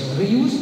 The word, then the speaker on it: Rius: spécialiste de Robert Rius Rius mattend dit fallait prononcer en catalan euh on remercie bien